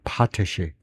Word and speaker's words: potash: 그다음에 그 발음은에이 단어의 발음은 어떻게 되느냐면은 앞에 엑센트가 있느냐 하면 두 번째 음절 엑센트가 있느냐 이건데요.에 앞에 엑센트가 있네. 파테시 파테시라 그러네.